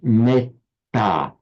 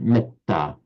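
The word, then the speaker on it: mettā: But take a word like metta, which in Pali, would write M-E-T-T, long A. In Sanskrit, that would be pronounced metta. So the A would have its full vocalic length, even though it's followed by a double consonant. Whereas in Pali, it's pronounced short, metta.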